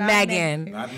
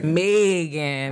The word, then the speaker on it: Maegan: Okay, pronounce Megan with a New Orleans accent, not Megan. Megan, all right? Drag it out.